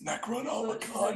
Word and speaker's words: Necronomicon: That's not how that works. It's Necronomicon, you Endear dickhead.